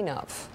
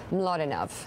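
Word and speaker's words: Mlodinow: Mladinov. Is that the way your father says it? Or Mladinov, as we say in America here.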